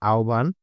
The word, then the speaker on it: আহ্বান: আহ্বান এর সঠিক উচ্চারণ হচ্ছে আহ্বান।